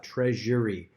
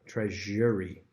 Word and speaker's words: treasury: Same thing with the next word, treasury. This one is like a Z sound.